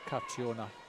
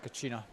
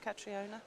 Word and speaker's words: Catriona: i better mention it's carciona oh is it but yes you'd normally pronounce uh katrina but uh she she does object to being called well we should call her no catriona so i've been reprimanded